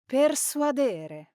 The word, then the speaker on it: persuadere: well, the correct pronunciation is. Persuadere. Now, the stress in this infinitive verb falls on the second to last syllable, so we say persuadere because it comes from the Latin suadere, to convince.